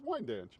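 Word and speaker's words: Wyandanch: Wend. It's like like each syllable its own word. How do you say it? It's wine danch.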